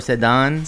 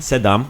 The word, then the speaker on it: sedam: Sedam or sedan. Sedam. Let's do Sedam with the M.